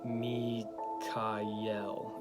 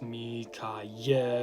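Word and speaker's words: מיכאל: on my right hand me Kyle is how you pronounce it with the the accent syllable being the last syllable l so it's me Kayo accenting the last syllable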